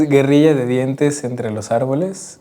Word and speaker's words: Guerrilla de dientes entre los árboles: Gorilla de dientes entre, I keep pronouncing this with a French pronunciation instead of a Spanish pronunciation, entre las arbores.